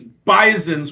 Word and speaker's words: Bisons: whole life it's bison I have come to learn it's bison's with a hard z sound in the middle I will never mess